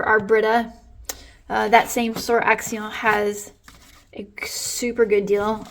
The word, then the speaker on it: Action: a discount store here called axal or if you were pronouncing it in English it could be action and they have a